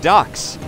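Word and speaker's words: DUKW: despite often being overlooked pronounced as duck resembling the quacking bird this six wheeel Drive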